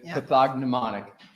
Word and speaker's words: pathognomonic: else that causes those let's focus on the word people pronounce it differently pathognomonic what does pathognomonic mean in medicine pathic